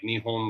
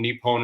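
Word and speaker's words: 日本: Nihonjin is like it's the term for a local because like they say it like Nihon, which is like Nippon. Nippon is how they actually say Japan.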